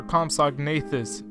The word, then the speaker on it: Compsognathus: a look at a lifesized compsognathus mock or comag nathus if that's how you like to pronounce it I'll just do the